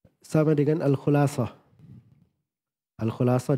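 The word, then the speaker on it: الخلاصة: Al-Khulasah di dhamma kha'nya.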